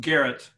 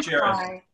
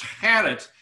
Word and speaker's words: Gerritt: to correct you but it's actually pronounced garrett not jerry technically it's a dutch name and it should be pronounced had it but nobody in in